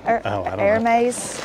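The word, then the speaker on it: Hermès: purses heres Hermes no the H is silent right her air maze I don't know who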